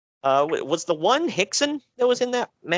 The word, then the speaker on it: Rickson: big Pride fight against Rickson Gracie. However, I'm proud of you for pronouncing that right. Yeah, I found out years ago the R is an H.